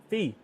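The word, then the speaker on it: Phi: Thank you, Fee. How do you say your name? Is it Fee? Full? I know it's pho when you say pho, P-H-O, but I'm not sure how to say P-H-I.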